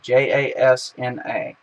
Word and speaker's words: Jasna: Jasna spelled with a J. Jasna.